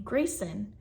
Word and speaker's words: Graycen: And I finally came upon the name Grayson for a girl. So it's spelled Graycen.